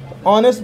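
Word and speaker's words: honest: ऑनेस्ट नेस्ट लिखा है एच तो वल है नहीं लेकिन इसके बाद जो एच साउंड जो है इसका का साइलेंट रहता है ऑनेस्ट पढ़ते हैं ओ जो है यहां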